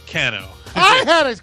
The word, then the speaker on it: Cano: got to remember cuz it rhymes with Drano oh actually you had it correct Steve it's Cano I had it correct